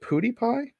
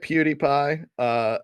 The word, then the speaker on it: PewDiePie: peripheral vision recently I think it's is it pooty pie that stream so on do you live yes but if that pronounced pooty pooty yeah you get PewDiePie I'll get subsequent no there we go so